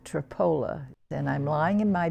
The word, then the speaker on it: Tripoli: english in history in a little town called tripoli only they pronounced at tripoli then i'm lying in